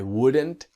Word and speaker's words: wouldn't: The T is silent and the have becomes a.